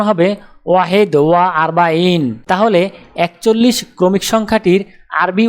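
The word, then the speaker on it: واحد وأربعون: আরবি ক্রমিক সংখ্যা 41 দেখতে এরকম, উচ্চারণ হবে ওয়াহেদ ওয়া আরবাইন।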